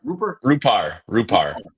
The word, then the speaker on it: Rupar: Do you pronounce it Rupar or Rupar? Rupar.